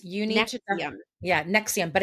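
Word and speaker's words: NXIVM: yeah, Nexium, but it's spelt like something weird, so let me just quickly see. It's like N-X-I-V as in Victor M, Nexium, but that's how you pronounce it, and yeah, Oh, so wow.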